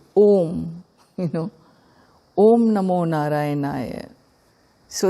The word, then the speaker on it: om: So an om has components a u these three component vowels when they come together you get phonetically and so it is